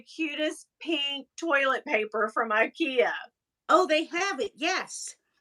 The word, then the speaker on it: IKEA: Or as they call it in Europe, Ikea. Oh, Ikea. Is that how it's said? Ikea. Okay, so yes. That's like we call Adidas, but it's really Adidas. Yes. In Europe.